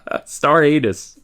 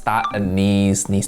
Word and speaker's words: star anise: Bay leaves, star anise, being Star anus. Oh, I didn't hear it. Anus. star anise. It pronounced star anise, Toki. Star anise and star anus, very different thing.